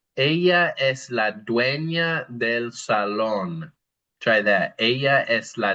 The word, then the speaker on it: salón: And salón is really a good place to emphasize how we pronounce our A's and our O's in Spanish. Salón. The next one is we are bold.